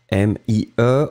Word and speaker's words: mie: Le premier, celui que nous avions, c'était mi, i-i-i-i, m-i-e, on ne prononce pas le e final, mi.